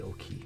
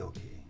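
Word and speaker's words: Okeh: Would you pronounce that okay or Oki Records? I say Oki. Either way, Oki, okay. I say okay.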